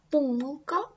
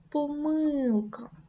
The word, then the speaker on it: помилка: До таких слів належать як помилка та помилка. Завжди та завжди. Весняний та весняний. Загнутий та загнутий.